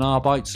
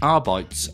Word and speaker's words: Arbites: Pissed up an Arbite's leg, I imagine. Also, people don't like the way I pronounce it Adeptus Arbites rather than Arbites. But Arbites sounds awful, so I refuse to change.